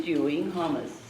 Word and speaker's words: Dewing-Hommes: It gives me great pleasure to introduce to you today our speaker, Dewing-Hommes. That's how you pronounce it. It is, Hommes.